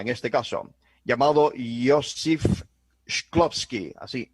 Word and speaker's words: Shklovsky: Tal es así que años antes, otro prominente cosmista, en este caso, llamado Yosif Shklovsky, así, Shklovsky, pronunciación, era además, no era ruso, era ucraniano, un astrónomo soviético, ¿no?